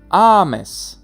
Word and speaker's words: ames: Par exemple, nous avons ames, ames, où le A est accentué pour dire tu aimes, et amas, où c'est le deuxième A de la terminaison, la deuxième syllabe qui est accentuée.